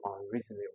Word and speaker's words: unreasonable: So most four-syllabic word with prefix un has the stress on the third syllable.